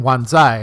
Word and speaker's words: Wan Chai: like like uh one it looks like you would say Wan chai in shenmu 2 but they're saying wanai which is closer to how